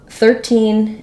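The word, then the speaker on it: thirteen: first syllable so um 13 and 14 typically you're going to see kind of secondary stress on the first syllable primary stress on the second syllable 13 14 but if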